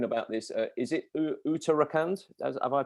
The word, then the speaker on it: Uttarakhand: you are talking about this uh is it uttarakhand have i pronounced that right am i close yeah yeah it's a very beautiful area in uh the himalayan region it's called uttarakhand and it's one of the most touristic places